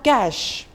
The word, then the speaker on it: cache: chef already discussed cook then we have cash CA CH e cash in computer like while